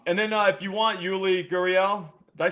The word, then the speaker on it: Yuli Gurriel: But and then if you want Yuli Gurriel, did I say his name right, Jerry?